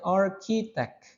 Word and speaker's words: architect: ilmuwan arkitek arsitek ya Jadi ini yang sering salah teman-teman arsitek dibacanya arkitek jadi CH h i dibacanya q ya arkitek architek recepsionis barista photographer dentist